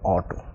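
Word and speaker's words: auto: যেমন এর উচ্চারণ হবে অটো, অর্থাৎ এ ইউ টি ও, অটো।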